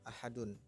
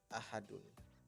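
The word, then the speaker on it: أحد: lafaz ahad aslinya adalah ahadun. Namun karena diwaqafkan, maka dibacanya ahad.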